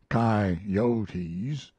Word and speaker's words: coyotes: chinamen spaniards gamblers sharpers coyotes pronounced chi-yotis poets preachers and jackass